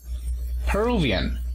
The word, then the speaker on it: Peruvian: Y en cuanto a la nacionalidad, Peruvian. También se encuentra en la segunda sílaba.